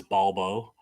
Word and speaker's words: Balbo: It is pretty deep, and I love the fact that his name was Balbo. That's how they pronounce it, Inspector Balbo.